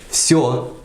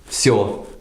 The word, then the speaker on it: всё: Then we can take a word like всё, which is once again is pronounced with a F at the beginning, but it's written like всё with a V sound.